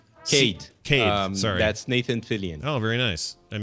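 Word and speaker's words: Cayde: Sade 6? Cade.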